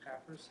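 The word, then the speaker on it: PAPR: next thing is powered air purifying respirators or papers as is the AC is pronounced we we are currently EV valuing the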